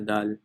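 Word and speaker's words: دال: tongue it's your tip however it's also important that you don't pronounce it like the english d but instead it's the dal right so in english d you actually don't touch your teeth at all this is your teeth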